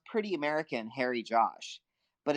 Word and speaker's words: Harry Josh: it sounds pretty American Harry Josh but if you're in India you would say Hari Josh so it sounds like Hari Krishna and it sounds like